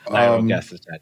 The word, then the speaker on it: nirogacestat: How do you pronounce it again? Nirogacestat, yeah.